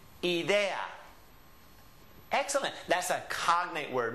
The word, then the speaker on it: idea: Of course, we say idea, some of us. It depends on where you're from. But in Spanish, it would always be pronounced idea. Idea. Ah. Tengo una idea.